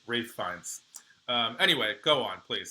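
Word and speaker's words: Ralph Fiennes: It's Ray Fines. I don't care. But no, apparently Rafe Rafe Fines.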